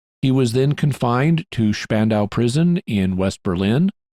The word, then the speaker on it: Spandau: He was then confined to Spandau prison in West Berlin. In German, the name is pronounced Spandau. In English, it's pronounced Spandau, and you may hear me say it both ways.